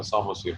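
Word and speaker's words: psammosere: सामो में पी के साथ है पहले, और ये पी साइलेंट है, इसका सामोसीयर पढ़ा जाएगा।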